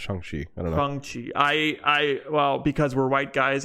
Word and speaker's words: Shang-Chi: Well, because we're white guys, I pronounce it Shang because. Yeah. Well, it's yeah. I think he, like he said in the movie, I think it's pronounced Shang. Gong. Like gong, but Shang.